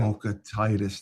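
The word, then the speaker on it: Vokietaitis: Yeah, I it's think Mattis. It's Mattis Vocatitis. Mattis. Okay, Mattis Mattis. Vocatitis. So, Vocatitis. That's how you yeah. pronounce it.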